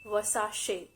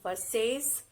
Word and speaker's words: Versace: shoes or accessory brand it's versa wasashi it's not versace or verses it's versace moving on to the